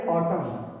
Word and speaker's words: autumn: बा नहीं पढ़ जाएगा ट पढ जो है साइलेंट वर्ड है या ठीक है एन साइलेंट हो गया है क्या पढ़ेंगे ऑटम ठीक है चलिए शुरू